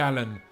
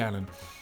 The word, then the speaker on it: Allin: of abuse about because he pronounced it GG all in which is it is written like that but yeah it's GG Annan um number five what